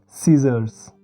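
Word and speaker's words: scissors: देखिए ये है, पहला शब्द है जैसे दोस्तों साइंस, आगे है सेप्टर, फिर मसल, आगे असेंट, फिर सीजर्स।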